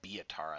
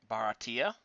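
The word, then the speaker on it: Buryatia: So I pronounce it like the Biatara. That's not even remotely correct. It's the it's Baratia. It's Baratia. It's just Baratia.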